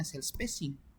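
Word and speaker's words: cellspacing: Spatching tulisannya teman-teman ya. Tapi bacanya sell spacing.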